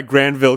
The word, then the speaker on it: Granville: that's why that's why Granville County is pronounced with a hard G with a hard G